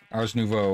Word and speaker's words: Ars Nouveau: Yeah, and this one with the Drigmis are Ars Nouveau, I believe it's supposed to be said. Thank you. I have problem pronouncing it without sounding like an insult.